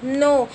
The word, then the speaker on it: know: KNOW, नो। बच्चों आप ये बोलोगे कि यहाँ पे के से स्टार्ट है तो इसको नो कैसे बोलेंगे, क्योंकि बच्चों जो के होता है वो हमेशा साइलेंट होता है, यहाँ पे नो के अंदर ही साइलेंट होएगा के, तो इसको हम बोलेंगे नो।